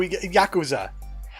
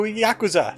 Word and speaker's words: Yakuza: Welcome to Yakuza. I learned how to pronounce that correctly. I kept on saying Yakuza. Yakuza. The K is sharp.